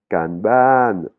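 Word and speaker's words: การบ้าน: Là, on a le mot kanban, kanban. Hein, ce sont les devoirs. Hein, kanban. Il y a deux syllabes et quand on parle, on arrive bien à faire la distinction entre ces deux syllabes.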